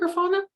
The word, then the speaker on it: Grafana: at grafana is that how you say it grafana that is exactly how you say it cool